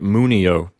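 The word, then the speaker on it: munio: the word moon EO you'll see that the P note is an open syllable and it contains a short vowel so the accent recedes one syllable to the left to the syllable mu and we get mu neo next Winnie Oh Winnie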